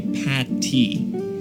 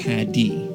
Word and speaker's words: Paddy: Well, people think because it's St. Patrick that the short form of that would be Patty, but it's actually Paddy.